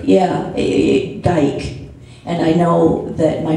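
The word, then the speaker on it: Gyke: It's G-Y-K-E, but it's pronounced the same way. Yeah, Geik.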